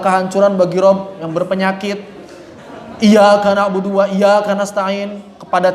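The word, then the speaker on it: إياك: Kemudian pada lafaz iyyaka, ya dan wawu harus dinabar, ditekan.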